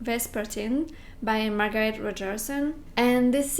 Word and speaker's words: Vespertine: i'll go with a vespa team i realized that i've been saying it wrong in all my past videos so i think it's pronounced vespertine by margaret rodgerson and